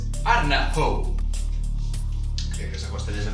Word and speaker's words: Ardnahoo: Arnahoe. En aquest cas guanya en Víctor, la pronúncia correcta és Ardnahoo.